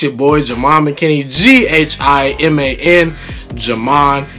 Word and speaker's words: Ghiman: Ghiman is how you say and spell my name.